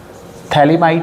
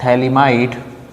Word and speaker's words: Phthalimide: लेते हैं यहां पर गैब्रियल थलीमा इड में पीएच जो होता है हमारा वह साइलेंट होता है थलीमा इड और सिंथेसिस गैब्रियल थलीमा